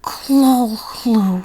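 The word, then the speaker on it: Cthulhu: is Lovecraft's famous monster claw home from a short story published in 1928 yes it is said that's how HP Lovecraft imagined it pronounced as well as possible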